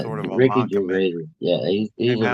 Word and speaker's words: Gervais: Gervais? Gervais.